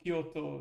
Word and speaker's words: Kyoto: Kyoto. It's a short O at the end.